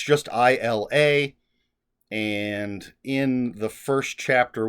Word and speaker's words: Isla: And in the first chapter with Isla, which is in third person, it says one of the characters pronounced her name Ela, and that was incorrect. So hopefully Isla is the correct way.